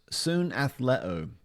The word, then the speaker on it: συναθλέω: It's a Greek word and it's pronounced soon athlet.